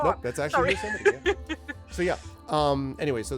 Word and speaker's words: Yosemite: I was gonna say, you go to like Yosemite and you're talking about some of the which for the record is pronounced Yosemite, not Yosemite, like a certain world leader of ours decided to mispronounce it anyway.